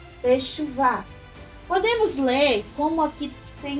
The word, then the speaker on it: Teshuvah: Tav, Sheva, Shin, Vav, com Shuruk, Shu, Vet e Rei, Teshuvah.